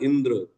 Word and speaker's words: इंद्र: इंदिरा, है ना, इंद्रा, इंद्र, इंद्र ना, इंद्रा नहीं होता है इंद्र, है ना, ऐसे बोलना चाहिए, है ना। देवराज इंद्र, समझ गए ना।